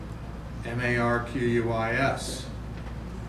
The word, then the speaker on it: Marquis: M-A-R-Q-U-I-S. Nay, Marquis. I've been correcting the pronunciation of my last name for as long as I can remember.